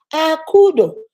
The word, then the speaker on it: Akudo: Akudo. The name is spelled is pronounced the way it's spelled. Akudo.